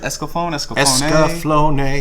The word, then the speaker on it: Escaflowne: Is it Escaflowne?